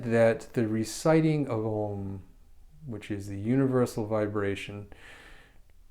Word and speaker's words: Om: simply the recitation of om om usually looks like om but the pronunciation is really broken down into three different parts and it's said together